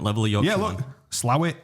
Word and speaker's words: Slaithwaite: locals pronounce it? You're a different level of Yorkshire. Yeah, look, Slowit, Slawit, SLA-wit, Slowit. It's never. It literally says, but never Slaithwaite. Well, it's Slaithwaite to me because I'm nowhere near as Yorkshire as you.